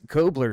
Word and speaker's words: Kobler: that 99 of rice kobler see I got it right that time yeah everybody gets my last name wrong they just messed up that extra beat half the time and it's not there well we won't we